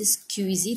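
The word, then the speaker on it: squeegee: Door mat पायदान स्क्यूजी इट्स XQUEEGEE रबड़ पोछा और झाड़ू बट the pronunciation is स्क्यूजी that is called SKVEEJEE this is the pronunciation spelling.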